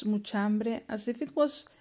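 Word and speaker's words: mucha hambre: you one pronunciation tip muchambre the way we say it it is as if it was just one word muchambe trying to pronounce muchambre as if it was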